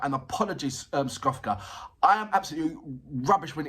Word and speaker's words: Skofka: I keep on getting Skofka. There you go. Skofka. There you go. I'm getting it right. And apologies, Skofka.